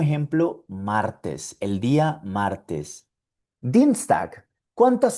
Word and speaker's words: Dienstag: Dienstag. ¿Cuántas sílabas tiene Dienstag? Veamos. Dienstag. Tiene dos sílabas. Y la combinación IE está en la primera sílaba.